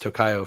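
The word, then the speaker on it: Tokio: me so um and I've heard it pronounced tocoo from others too but I know I started calling it Tokyo myself um Sur um lots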